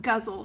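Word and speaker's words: ghazal: of syllables there oh it's pronounced guzzle sorry um um it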